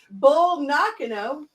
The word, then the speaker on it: Bull Nakano: Bull Nakano, did I say that right?